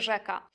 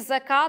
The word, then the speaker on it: rzeka: Mazurzeniu ulega tylko [ż] to zapisywane jako [z] z kropką, czyli: „żaba” to będzie „zaba”, ale „rzeka” to zawsze w gwarach będzie „rzeka”. Jeżeli w reklamach albo filmach usłyszycie „taleze” albo właśnie „zeka”, to znak, że twórca tych tekstów niekoniecznie wykazuje się świadomością stylizacyjną.